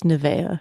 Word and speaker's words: Nevaeh: Evie this is heaven it's a name that is heaven spelled backwards okay so how would you pronounce that I think typically it's Nevaeh it's very common here in the south but I think they